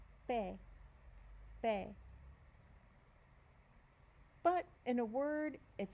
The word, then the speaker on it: pe: As in English, it's pe, pe.